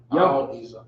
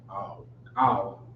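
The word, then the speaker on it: או: Ow is how you say or. Ow is how you say or.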